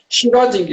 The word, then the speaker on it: Schrödinger: Eu já esqueci como é a pronúncia certa. Schrödinger.